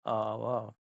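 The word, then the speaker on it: hour: finish this assignment देखिए इसकी जो हमारा प्रोनंसिएशन होता है वो होता है आवर तो सही आंसर क्या हो जाएगा हमारा यहां पर यह हमारा शुरू होता है यहां पर एच की आवाज प्रोनंसिएशन साइलेंट है एच साइलेंट है तो यहां पर ए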